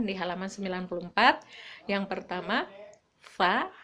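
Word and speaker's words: ف: Kalau fa itu digigit lidahnya, agak digigit sedikit, fa.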